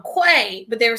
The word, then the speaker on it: Quay: saying she was saying it's quay not qui it's the the brand